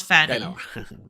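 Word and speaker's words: Pfannee: Fanny Fanny he's Fanny yeah yeah it's it's pronounced Fanny um why would you like he's he's barely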